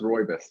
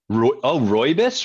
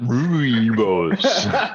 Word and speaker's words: Rooibos: I think it's pronounced Roybus. Roybus? Really? So it's not like there's 2 O's. It's like just 1 O.